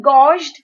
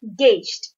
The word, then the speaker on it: gauged: very well balanced gauged it could seem like gosht but it is pronounced as gauged meaning something that is